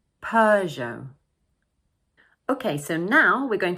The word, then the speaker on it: Peugeot: And don't forget the silent T at the end of the word. So we pronounce it Peugeot, Peugeot.